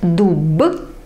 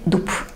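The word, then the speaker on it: дуб: And the final thing, instead of b at the end, you pronounce p. You don't read dub, you say dup.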